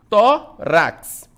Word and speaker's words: tórax: Tórax. Então, penúltima sílaba, o tó, é uma paroxítona, recebe acento. Nós temos, né, vai receber o nosso acento.